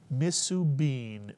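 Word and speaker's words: מסובין: What would the first syllable be? Misu, mitsuyan, misu, misu, mitsuyan. Second syllable, easy. Bean is correct. Put the word together, misubin, mitsuyan.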